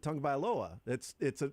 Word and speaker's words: Tagovailoa: No, but you pronounce it Tagovailoa. You start with the tongue.